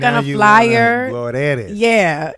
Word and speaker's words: Glorelys: Glorelys. Yeah. Now you like pronounce that shit, nigga. Roll that R.